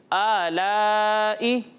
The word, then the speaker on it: آلاء: اور دوسرا یہ کہ آلاء یہ غلط تلفظ ہے. ٹھیک ہے, اے نہیں ہے یہ, آلائی آلائی آلائی.